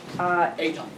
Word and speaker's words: Eitan: Eitan. Great. Do you want to spell it so we don't spell it wrong?